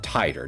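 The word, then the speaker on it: Titor: Okay, that's how you actually pronounce the name. Titer, not TT, but Titer.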